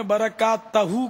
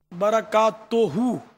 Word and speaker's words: برکاتہ: ملنا دشوار ہوتا ہے۔ وہ برکات توہو کے بجائے آپ نے برکات تہو کہا، تو یہ اس کی بھی تصحیح فرما لیں، برکات توہو صحیح تلفظ ہے۔ کھٹی چیزیں جو ہے